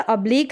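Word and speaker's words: oblique: ऑब्लिक है। ऑब्लिक क्यों नहीं पढ़ेंगे? ऑब्लिक क पढ़ेंगे क्यू यू ई को।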